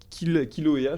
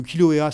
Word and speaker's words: Kilauea: Là-bas, il y a le Kilauea, j'ai bien prononcé? Oui, alors Kilauea, c'est un petit peu le frère de la Fournaise, un petit Ouais.